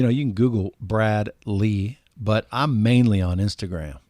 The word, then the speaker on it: Lea: It's spelled Lea for Lee. People say, is that Leah? I say, I don't know. Do you drink Tia? So it's just like tea, but Lee.